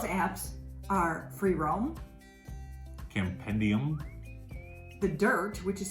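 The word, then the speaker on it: The Dyrt: some of those apps are free roam campendium the dirt which is spelled d-y-r-t don't want to confuse that one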